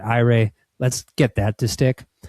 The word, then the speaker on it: AIRE: I think you should pronounce it AIRE.